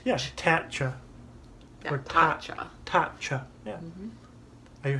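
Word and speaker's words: Tatcha: I don't know how I said it earlier, but it's Tacha. Tacha. Ch. CH says ch. Yeah, Tacha. Yeah, or Tacha.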